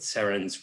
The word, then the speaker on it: Serin: said to me uh saren as in serendipity and i thought that